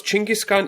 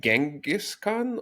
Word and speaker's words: Chinggis: on Chinggis Khan, how do we pronounce Chinggis Khan, even though it's written like Genghis Khan? Or no, it's not written. It should not be written that way either. Okay, I see. Yeah, so it's already spelled completely wrong.